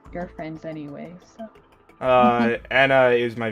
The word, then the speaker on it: Anna: probably yeah uh how long have you in hannah sorry anna anna that's how you pronounce her name okay yeah were you going